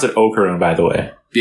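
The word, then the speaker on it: Okarun: That you pronounce it Ocaroon by the way. Yeah. Okaroon, right? And we've we've always said that. U And uh it's Ocaroon for sure.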